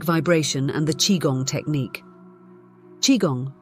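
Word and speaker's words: qigong: living eight energetic vibration and the chiong technique chiong pronounced chiong is based on Ancient Chinese philosophy chiong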